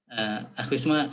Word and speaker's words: Wisma: Ya, penghalalan artinya orang tersebut Wisma ketukar dengan Wisnu, bacanya Wisma. Iya Pak Wisnu.